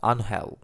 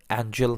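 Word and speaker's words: Ángel: নিচ্ছেন অ্যানল Di Maria অবশ্য বাংলা উচ্চারণটা আনহেল ইংরেজিদের নামের বানানে এঞ্জেল অনেকে উচ্চারণ করেন এঞ্জেল নামেই ডিমারিয়া অ্যাঞ্জেল রূপে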